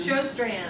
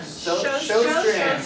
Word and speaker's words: Sjøstrand: Amy Peltier, Brandy Pennington, Brittany Radford, Jonathan Rodriguez, Jacob Sebring, Diane Shearer, how do you say Sjøstrand? Showstrand. Showstrand. I was messing that one up.